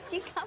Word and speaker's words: Cika: Bukan Jika, Cika Pak. Cika.